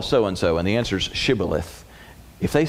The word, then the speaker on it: Shibboleth: hey, say the word Shibboleth. For some reason, people from Ephraim, the sheen, the Hebrew letter that the word started with, could be pronounced as SH or S.